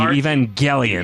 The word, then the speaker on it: Evangelion: Sorry, it's a hard G. Evangelion.